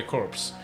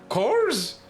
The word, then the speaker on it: corps: am the captain of the Galaxy's team survey corpse you may call me corse course corpse no